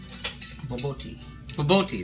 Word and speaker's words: bobotie: else uh regarding the bbo tea or the rice the bo um I saw references to the bbo tea that um Botti Botti sorry Accent on the second syllable um said it can